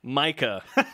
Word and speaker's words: Mika: I believe it's pronounced Eric Mika.